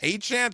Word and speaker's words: Etienne: That he pronounces it Travis Etienne Etienne kind of like Devon Achane from Miami, but he switched it to Etienne because it was easier during his freshman year at Clemson.